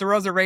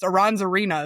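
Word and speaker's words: Arozarena: but it or I now I say it right, but it's a Rosarena. And I always wanted to say something else before. I wanted the N first. Aronzena is what I used to say.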